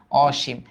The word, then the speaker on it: অসীম: তখন এর উচ্চারণ অ এর মতোই হয়, অসীম বা বিবৃত হয়, অসীম।